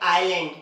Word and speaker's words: island: एक ही कंडीशन है उसकी, एस जब भी आई और एल के बीच में आएगा तब क्या होगा? एस साइलेंट होता है। जैसे देखिए AISLAND, तो यहाँ पर क्या हो रहा है? एस आई और एल के बीच में आ रहा है, तो हम लोग इसे पढ़ते हैं आइलैंड, ना कि आइसलैंड, है ना।